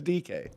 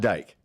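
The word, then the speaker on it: Dike: I don't know how they're getting that either, but it's DK. You sound like a Ricky. Not Dyke.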